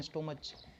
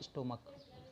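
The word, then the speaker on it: stomach: जैसे स्टोमच, ऐसे स्टोमक कहते हैं इसको, बोलते हैं हम लोग, पढ़ते हैं स्टोमच, होता है स्टोमक।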